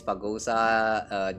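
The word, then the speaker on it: Phagousa: out real quick that this Fagosa, the correct pronunciation sounds very much like that word.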